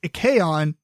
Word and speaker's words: Icaion: So the other things I've been up to is I got my Icaion, which I found out is pronounced Icaion. I'm still going to say Ikai because AI sounds like I to me.